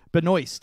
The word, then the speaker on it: Benoist: season right oh yeah so I got Melissa Benoist who does pronounce her name like that which is weird